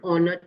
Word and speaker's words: honor: before we use an because here h sound remains silent the h remains silent and the vowel sound come. So question number 19 the correct answer is option b an it is an honor to me.